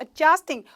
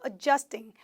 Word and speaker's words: adjusting: 안경을 adjusting, 고쳐 쓰고 있다, 조절해서 쓰고 있다. 그래서 발음 자체가 adjust 이렇게 안 들린다 그렇죠? 거의 d 사운드가 약하게 들리면서 adjusting, adjusting, 조절하다, 고치다 알아두세요.